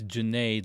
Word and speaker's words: Junaid: How do I pronounce it again? Just to make sure. It's janade like lemonade.